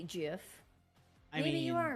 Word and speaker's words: GIF: Although it does make more sense to say GIF because it's GIF rather than to pronounce the G as a J, GIF.